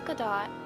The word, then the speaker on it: Gadot: As many of the fans are familiar, Gal Gadot, and yes, the T is pronounced, is an Israeli.